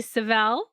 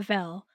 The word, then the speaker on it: Sevel: Somebody was like, "Vel?" And I'm like, "No, no, not not Vel."